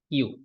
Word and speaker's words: queue: UEUE, এগুলার pronunciation হয় নাই, পুরোটার প্রনাউন্সিয়েশন কি, কিউ।